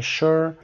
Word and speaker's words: sure: salary, satisfying, spontaneous, synonym, sure, خب همه صدای س رو دارن و کلمه sure که از استثناءات هست، sure و sugar کلماتی هستن که با su شروع میشن و صدای ش رو دارن.